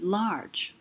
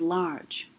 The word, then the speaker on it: large: would this word say if we took away the final silent e right larg but the word we want is large so adding final silent e does what it's making the g say j and that's the second